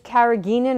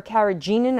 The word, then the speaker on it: carrageenan: And one of them is carrageenan or carrageenan. I've heard it pronounced both ways.